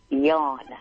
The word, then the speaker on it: John: How is it pronounced? Yawn. Yawn, okay.